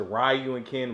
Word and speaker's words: Ryu and Ken: That's right, if you want to pronounce it, Ryu and Ken, Ryu and Ken.